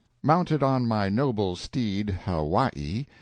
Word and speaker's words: Hawaii: off mounted on my Noble Steed Hawaii pronounced how y e stress on second syllable a beast that cost